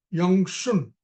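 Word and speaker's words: 养生: The word is Yang Shen, or Y-A-N-G-S-H-E-N, and it's pronounced Yang Shun.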